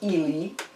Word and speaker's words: Ely: it is in the city of illinois and pronounced as ili it's near cambridge and it's the next stage